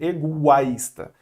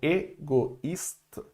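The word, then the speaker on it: égoïste: Se não tivesse o trema, o O com I, ele fica o A, ok? Então, eu iria dizer egoísta. Mas, como tem o trema, então eu vou falar, o I vai ser pronunciado, ele não vai juntar com um O não, tá ok? Então, cada um no seu lugar aqui. Então, egoísta, ok?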